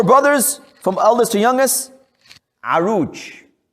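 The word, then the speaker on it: Oruç: engl arabic it's but the way it's spelled is completely different from the way it's pronounced this is turkish spelling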